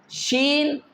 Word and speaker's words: ش: The three, jeem, sheen, and ya, will pronounce from the same place.